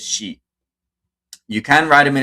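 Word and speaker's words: し: But this you just pronounce it tsu, and you say ti, you say chi, actually, and si is she.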